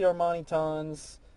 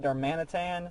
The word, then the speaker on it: Darmanitan: I'm trying to figure out how to pronounce that because the anime pronounces it Darmanitan, so it's Darmaxitan for the attack, but I pronounce it Darmaniton after Darmani, so it's Darmaxiton, Darmaxiton, I guess.